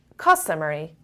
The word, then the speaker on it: customary: Customary. Customary. Da da da da. Customary. Da da da da. Customary. The stress is on the first level.